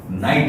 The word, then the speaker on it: knight: अब देखो स्पेलिंग में यहाँ पे थोड़ा डिफरेंस ज्यादा है, यहाँ के आता है, के साइलेंट है, नाइट, और नाइट रात, अब रात आपको पता ही है।